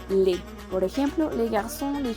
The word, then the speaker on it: les: Recordemos que la S es muda al final y recordemos la regla de pronunciación ES va a sonar como E. Entonces se dice le.